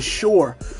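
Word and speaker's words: Shure: YouTubers use which is the shore it's a microphone called the shore microphone it's called s-h-u-r-e once again that's s-h-u-r-e it's spelled just like that it's the shore microphone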